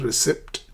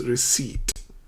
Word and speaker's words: receipt: Okay, it's not receipt as it's spelled. The word is pronounced receipt.